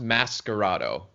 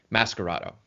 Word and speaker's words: Mascherato: will say less miserable so um yeah it's pronounced mascarado um so it's a hard c sch an italian has a scar sound so mascarato much like mask plus eroto so okay and